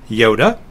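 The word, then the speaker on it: iota: th as in thing Yoda is the short I but it's pronounced as the I in intrigue kapa is the K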